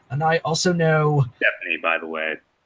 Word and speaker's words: Stepney: Yeah, I know him, and I also know Stephanie, and I also know. Stepney, by the way. I'm sorry. It's Stepney. That's what I said, Stephanie. No, it's Stepney, not Stepney. You pronounced it wrong, Scotsman.